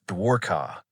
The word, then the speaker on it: Dwarka: The ancient city of Dwarka, pronounced Dwarka, appears in old Indian traditions as a powerful, wealthy city associated with Krishna.